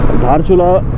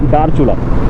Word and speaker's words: धारचुला: धारचुला जो है actually name common है। इंडिया साइड भी धारचुला ही बोला जाता है। बट नेपाल में उसका थोड़ा सा प्रोनाउंसिएशन चेंज हो जाता है। इट्स it's called डारचुला।